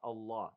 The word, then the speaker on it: الله: Allah, okay? Is heavy, right? But the ha in the end is not heavy. It's light.